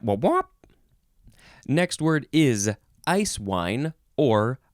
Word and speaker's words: Eiswein: Next word is eiswein or eiswein, spelled E-I-S-W-E-I-N.